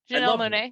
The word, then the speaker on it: Janelle Monáe: And there was lots of nasty torture and rape and abuse that Janelle Monáe went through. And am I saying that right? Janelle Monáe, yeah.